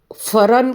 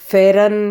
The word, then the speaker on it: pheran: ठंड के हिसाब से यहाँ पर आउटफिट रहता है यहाँ का ट्रेडिशनल, उसको फरन कहते हैं। फेरन या फेरन गलत उच्चार है, पर कश्मीरी में फरन ऐसा उसका उच्चारण है।